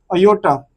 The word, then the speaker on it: iota: और ये अयोटा से डिनोट होता है, अयोटा, ठीक है। तो ये इसको क्या पढ़ते हैं, अयोटा। इसकी फुल फॉर्म है IOTA, ये इसकी स्पेलिंग है।